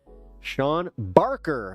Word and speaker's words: Barker: Sean Barker. Like Travis Barker.